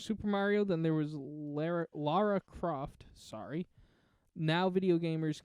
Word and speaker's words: Lara: It is Lara Croft, not Laura Croft.